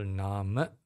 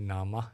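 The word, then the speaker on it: nāma: Rupa Nama and Rupa in singal's pronunciation we call n rup in English International P we call it Nama and Rupa okay because the a is not closed it's open uh so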